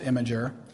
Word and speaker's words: Imgr: Imgr, Imgr is pronounced Imgr, and it's a instant messaging app.